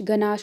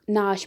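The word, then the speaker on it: gnash: उसके उसी तरीके से नाश, गनाश को हम नाश पढ़ते हैं।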